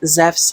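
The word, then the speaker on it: Ζευς: happily press on says zefs himself zeff's being the pronunciation for zeus in modern greek this these two here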